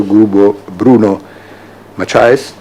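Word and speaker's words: Bruno Maçães: Bruno Macias, this is the right pronunciation, Senior Advisor of Flint Global.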